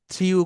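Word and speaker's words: threw: থ্রিউ করে। থ্রিউ এটা কোনো হচ্ছে উচ্চারণ নাই ভাই, এইটার উচ্চারণ হবে থ্রো।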